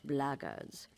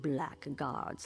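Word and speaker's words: blackguards: you're another one of those blackards and that's the way to pronounce it not black guards like that Thug insisted it was then my answer is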